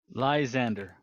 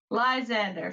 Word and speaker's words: Lysander: Lysander. Lysander. Fantastic. Lies and slander, and then you combine them, and it's Lysander.